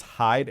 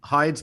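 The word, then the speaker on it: Heide: guy's name is curtis hyde h-e-i-d-e i think is how you say it worked in the fbi's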